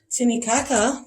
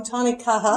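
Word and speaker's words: tānekaha: Tinikaka, that might work on there. Tanikaha. Tanikaha. Yeah, See, I yeah. said it wrong. Tanikaha.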